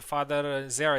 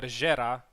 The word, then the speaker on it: Gera: I know that Father Zera is actually Father Gera, but it's pretty uncomfortable to pronounce it, so I'm just gonna go with Zera.